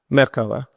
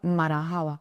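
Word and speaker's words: مرحبا: marahaba. Merkaba. No, marahaba.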